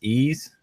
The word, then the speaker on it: Ys: with was I think we agreed we pronounced this ease or you know why